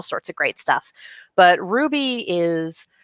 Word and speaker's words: RWBY: Watch Ruby, you guys. For those of you who are completely unfamiliar with what I'm talking about, it's that anime about girls spelled RWBY, pronounced Ruby.